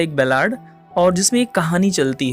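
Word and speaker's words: ballad: ये जो पोएम है this poem is अ बैलाड। Form की दृष्टि से देखा जाए तो कुछ लोग उसको बैलेड या इसका जो करेक्ट प्रोनाउंसिएशन होता है बैलाड।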